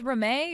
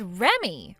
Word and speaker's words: Reme: Do you read that as Reme or do you read that as Remy? Huh? You're supposed to read that as Remy. Remy. So your name is Remy? It's spelled Reme, but you read it like Remy.